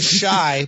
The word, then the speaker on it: Chi: But it's pronounced shy, like I'm shy.